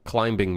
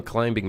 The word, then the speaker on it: climbing: Also, thoughts on climbing mechanic. Stupid scope idea. Thoughts on climbing mechanic? Did you just pronounce the B in climbing?